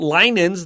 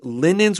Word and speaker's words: linens: So look at the word linens. Be careful. This is not linens. This is linens with a short eye.